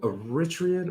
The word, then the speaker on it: Eritrean: are you Eritrean or Hold on, Ethiopian? wait a minute, real quick. Eritrean. I'm Eritrean. It's Okay. Eritrean, not Okay. Eritrean, like some people mispronounce it.